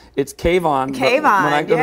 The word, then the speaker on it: K-von: Kayvon.